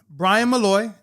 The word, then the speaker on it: Bryan Molloy: But Bryan Molloy, did I pronounce it right?